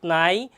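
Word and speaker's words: know: আমরা জানি ইংলিশে যদি এন এর আগে কে আসে, তাহলে এই কেটা সাইলেন্ট ওয়ার্ড হয়ে যায়, সেটা উচ্চারণ করা যায় না।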